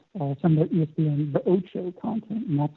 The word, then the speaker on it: Ocho: We partnered with ESPN, for example, to host some of the ESPN The Ocho content, and that's like this variety sports fun content that we showed over a weekend.